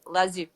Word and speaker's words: Lao Tzu: I already forgot how to pronounce Lao Tzu's name correctly. Lao Tzu.